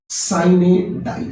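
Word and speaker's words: sine die: Right hand man विश्वसनीय व्यक्ति, small fry छोटा आदमी, और साइने डाई का उच्चारण है साइने डाई।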